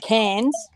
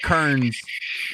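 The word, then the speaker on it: Cairns: you go to oh cans pans yes I always mispronounce it I'm always like Kearns okay no the people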